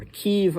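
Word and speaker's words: Kyiv: that was going on in Kiev or keev I should say that's the uh the the Ukrainian pronunciation and all these different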